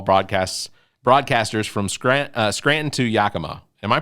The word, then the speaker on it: Yakima: profiles of baseball broadcasts broadcasters from Scranton to Yakima am I pronouncing that right yeah Yakima is up in Washington Yakima okay uh again it's expected out on June